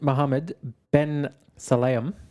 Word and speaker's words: Mohammed bin Sulayem: FIA President Mohammed bin Sulayem.